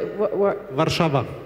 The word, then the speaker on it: Warszawa: Warszawa.